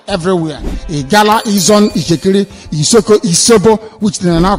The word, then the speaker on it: Isobo: The original name is pronounced Isobo, I-S-O-B-O.